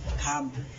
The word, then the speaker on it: thumb: ৪ number নিয়মটি হচ্ছে এম বি পর থাকলে এবং বি এর পর কোনো ভাওয়েল না থাকলে সেই ক্ষেত্রে বি এর উচ্চারণ হবে না। যেমন BUMB বম, THUMB থাম, এই ক্ষেত্রে বি এর উচ্চারণ হয়নি।